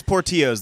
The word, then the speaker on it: Portillo's: Phonetically, it's Portillo's. The double L asks is. anybody who speaks Spanish, It Portillo's. is. So you can pronounce it incorrectly all you want, even though you say it incorrectly in Chicago, whatever. That's Portillo's. Really? In Spanish, it is Portillo's.